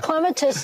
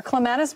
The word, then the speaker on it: clematis: Are clematis bloom... Clematis, I say it wrong. It doesn't matter. It depends on what side of the pond you're on.